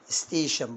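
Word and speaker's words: station: كتيره معاك في النطق عندي الاربع حروف التي اي او ان مع بعض بينطقوا شن مش هنطق التي لوحدها والاي ما فيش الكلام ده هم باكدج كده مع بعض بيتنطقوا شن زي حاول بقى تنطق معايا ادي المقطع اهو اللي هو شن نقرا بقى الحروف الاولانيه ستي ها شن تبقى ايه الكلمه على بعض ستيشن برافو ودي هتسهل زي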